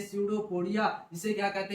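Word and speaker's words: pseudopodia: कहते है सूडो कोडिया कहा जाता है पीछे स्पेलिंग स्टार्ट होती है सूडो पोडिया सूडो पोडिया कहते हैं इसके बाद क्या करता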